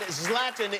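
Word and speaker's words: Zlatan: Center we want to see his lab and zlatin is the correct pronunciation yes love them thank you very much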